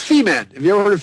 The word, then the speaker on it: Femen: femen f m en I'm sure it's pronounced differently in French but it's feeman have you ever heard